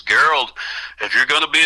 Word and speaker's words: Gerald: It's like Gerald, only it's pronounced Gerald, g e r a l d.